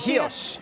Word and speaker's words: Chios: Chios. How do you say that? Chios, with Chios. Like an H, it's C-H-I-O-S, okay, but it's Societies pronounced of America and Canada, yes.